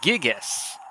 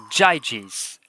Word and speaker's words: Gyges: and Lydians of King Gyges. Whoops, that's pronounced Gyges.